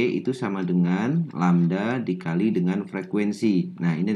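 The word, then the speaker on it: lambda: rambat kemudian lamda disini menyatakan panjang gelombang itu bacanya lamda kemudian F disitu adalah frekuensi efs ini menyatakan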